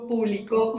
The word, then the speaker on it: público: Público, de dominio público, lleva tilde en la U. Publico, no lleva tilde. Y es que yo realizo la acción de publicar. Publicó, con tilde en la U al final, significa que yo publiqué algo. Sí, las palabras se escriben